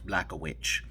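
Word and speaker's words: Błachowicz: with these names right so you have a name that's spelled as no vowels it's all consonants just z k y w x and then the name is block a witch like what how does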